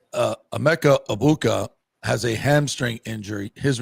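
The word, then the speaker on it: Egbuka: And somebody finally told him the G is silent. So he got it right this week. Said, Emeka Ibuka has a hamstring injury.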